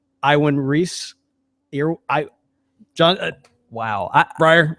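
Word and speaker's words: Iwan Ries: Iwan Reese. John. Wow. Briar. I have always called it Ewan Reese.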